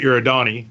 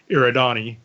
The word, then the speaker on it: Eridani: book you listen to because if you're listening to the first book he pronounces it your Adani yeah and in the second and third book it's a written e yeah okay wait I